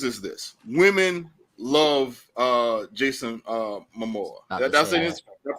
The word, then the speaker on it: Momoa: This probably may affect it, but the good news is this: women love Jason Momoa. That's it. Did I pronounce it correctly?